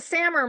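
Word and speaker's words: SAMR: saying it correctly samur it's the sammer model Sam model substitute right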